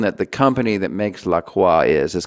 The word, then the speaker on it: LaCroix: yeah demands that people pronounce it the correct way which is the French way unfortunately apparently even the people who own it say that it's supposed to be pronounced LaCroix and I'm like no